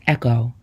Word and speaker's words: EKOW: what they need e k o w is pronounced Echo and means boy born on Thursday in the